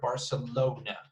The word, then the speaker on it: Barcelona: So it's 4 syllables, as you can say. And the stress is in the O right there, Barcelona. Next one is, and that's the only one.